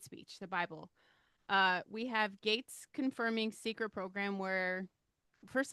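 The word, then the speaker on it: Gaetz: Um, Gates, Matt, is it Gates? Is that how you pronounce his name? The Attorney General. The Attorney General Yeah. that is a lady. Or he was the initial pick, right? Matt Yeah, Gates, G A E yeah.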